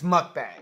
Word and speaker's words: mukbang: say mukbang okay so is it mukbang its mukbang yes we have an answer high five so